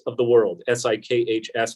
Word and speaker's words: Sikhs: One of the most impressive kiosks at the border this morning was United Sikhs of the World, S-I-K-H-S, pronounced Sikh, not Sikh, but they are people with the turbans, you're probably familiar.